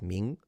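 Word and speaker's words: 明: How do they do it and it's Ming? The G is nasalized.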